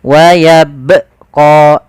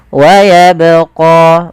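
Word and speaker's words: ويبقى: Keserahan yang terjadi yang pertama tidak memantulkan huruf ba dalam membaca qalqalah. Yang kedua menambahkan hamzah. Ah, ini pun kesalahan yang sering terjadi ya, Teman-teman. Yaitu dia menambahkan hamzah di situ. Misalkan wayabqo ini menambahkan hamzah. Harusnya bagaimana? Harusnya yaitu wayabqo mengalir suaranya.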